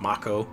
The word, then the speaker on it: Mako: Remake came out, and they found out that it's actually pronounced Mako. What? Yeah. I've been calling that shit Mako my whole life.